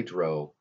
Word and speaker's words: drow: And so I made a female drow, and I will say drow because it comes from the Celtic word for demon, which we also have the word troll from. It has a long O sound.